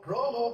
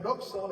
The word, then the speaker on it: rojo: Rojo, rojo. Pero recuerde que esta X no tiene no tiene pronunciación folética de así de como de X, si no no es roxo, es rojo big faj mucho los documentos Fajarlo con X.